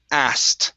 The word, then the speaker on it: asked: Uh next up is asked Instead of ask asked Ask Yeah Ask Okay Go uh go straight to a T sound Take out the K And it's asked Asked Ask Okay Good